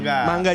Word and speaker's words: manga: Yang bener manga. Manga. Emang manga. Bukan mangga.